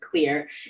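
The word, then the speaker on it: Xlear: I used I use clear uh clear X car it's spelled with an X but it's still pronounced clear nasal spray is a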